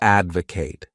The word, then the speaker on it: advocate: The next wonderful verb is to advocate. This word has 3 syllables, and the stress is on that first syllable. Advocate.